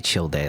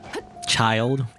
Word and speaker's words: Childe: gonna keep i'm gonna i'm gonna say chill day like i can't say a child it makes no sense to me even though that's how you're supposed to pronounce his name a child the orange hair guy